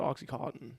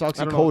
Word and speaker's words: oxycodone: I thought I thought people said oxycottton. I don't think if is it oxycottton? It's oxycodone.